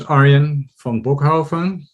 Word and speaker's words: Arjen van Bochoven: who don't know me um my name is aryan von bokhofan which is a dutch name which is really hard to pronounce it gets pronounced mispronounced all over the